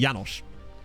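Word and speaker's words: János: Janos well you know his name is already yanosh that would change his pronunciation okay to be fair we've been calling him yanosh the entire time anyway like so it wouldn't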